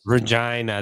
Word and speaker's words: Regina: Regina, where I'm from, is. Regina. That's where I was from. The city that rhymes with fun.